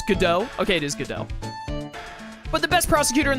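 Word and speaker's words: Godot: I imagine it's GDAU. Normally, a name like this with a T at the end like that, you normally don't pronounce the T. It's GDAU. Okay, it is GDAU.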